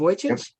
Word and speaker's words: Vujicic: So, anyone here ever heard of a guy named Nick Vujicic? Is that how I pronounce it? I think it's Yep. Vujicic.